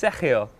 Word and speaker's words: Sergio: But it's such an opportunity for Sergio, and I really think that I've got to say it properly, it's Sergio. Otherwise no one knows what I'm talking about.